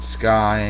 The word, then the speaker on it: SCCY: They're called Sky Industries, spelled SCCY.